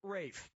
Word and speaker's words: Ralph: this yeah ray Fiennes first name is spelled like Ralph but pronounced Rafe question I was trying